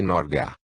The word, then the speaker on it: Norge: forma diferente da Portuguesa norge pronuncia-se norga o pai do paciente